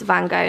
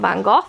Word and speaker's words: Van Gogh: one here as well did you guys know it's actually pronounced van gogh not van gogh so i think what